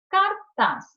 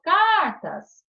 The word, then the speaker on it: cartaz: Cartaz, termina com Z. Eu separo cartaz. Sílaba tônica, eu falo cartas, ou eu falo cartaz. Cartaz. Então, a sílaba tônica é o taz. Oxítona.